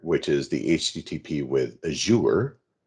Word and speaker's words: Azure: is the http with azure and i'm saying it like that because azure mcfarland's a good friend of mine and she says that's how you pronounce it and so what this